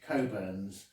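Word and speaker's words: Cockburn's: um for anyone unaware it reads burns but uh it's i think pronounced coburns um special reserve and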